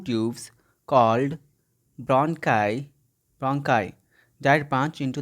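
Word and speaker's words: bronchi: ठीक है, आप इसे ब्रॉन्ची पढ़ते होंगे, लेकिन इसका सही प्रोनाउंसिएशन है इसका सही ब्रोंकाई.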